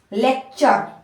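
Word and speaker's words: lecture: ट left city ट यू आर ई अर लेक्चर लेक्चर आप खुद से बना के देखिए जब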